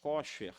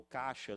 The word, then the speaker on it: kosher: É conhecido como alimentos kosher, né? Ou kasher, alguns, dependendo como pronuncia, mas são alimentos que são permitidos serem comidos, né?